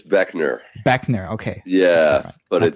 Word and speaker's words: Boeckner: doesn't look like there's no reason for anyone to assume the right pronunciation of that last name there a trick o hi I'm Dan Beckner of operators and you're